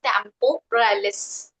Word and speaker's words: temporalis: of that muscle is temporalis. Okay, What is shall I it? spell it? Yes. Temporalis. Okay, Tempo, tempo, Mm-hmm. Ralis, ralis. So temporalis.